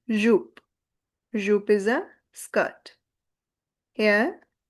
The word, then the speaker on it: jupe: E is silent at the end, so it is jupe.